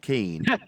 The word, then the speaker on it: Kihn: I'll say his name correctly once. It's spelled KIHN. I think I got it the first 5 times. Can you unban Rob Keen?